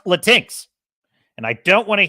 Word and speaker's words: Latinx: It's pronounced Latinx.